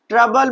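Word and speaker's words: trouble: ट्रबल, ट्रबल में भी ओ और यू एक साथ आ रहा है तो क्या हो जाएगा, ओ हमारा साइलेंट हो जाएगा।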